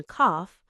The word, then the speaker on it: cough: So, to recap, same four letters, o u g h, and they give us off in cough, aw in thought, oh in though, oo in through, uf in tough, and uh in thorough.